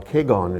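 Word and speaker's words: Kegon: Well, Keigon is the Japanese pronunciation of Huayan, which is the Chinese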